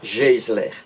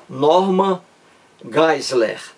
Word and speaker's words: Geisler: o nome do Norman Geisler. Eu digo Geisler em português de forma aportuguesada, né? Nome estrangeiro. Então, Norman Geisler, eu digo. A pronúncia correta é Norman Geisler.